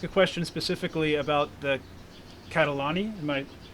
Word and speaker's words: Catalani: I'm going to ask a question specifically about the Catalani. Am I pronouncing that yes, right? Catalani?